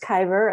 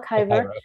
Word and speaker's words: Kibre: Yes, yeah, so Adele, I think it's pronounced Kiver, Adele Kiver.